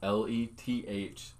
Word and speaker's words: Lethwei: Go watch Lathway. Look that up. If you're watching this podcast right now, look up Lathway. Yeah. It's Lethwei.